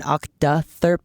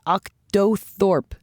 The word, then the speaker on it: octothorpe: one really knows gee is it proper to spell it OCTA Thorpe rather than thirp there is no proper Doug calls it an OCTA thurp Lauren calls it an octotherp but octothorpe seems to have the most widespread use though its use